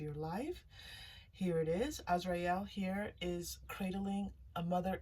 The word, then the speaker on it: Azrael: Now, I do pronounce the archangel names just a little bit differently than most people do. Some people say Azrael. I do say Azrael.